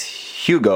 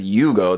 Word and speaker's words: Hugo: name of this because the English says Hugo obviously there with an H but the Japanese says Yugo that's why youu is the spelling of that so Yugo Hugo whatever somewhere in